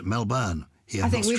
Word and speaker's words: Melbourne: We've been listening to your podcast for some time here in Melbourne, pronounced Melbourne.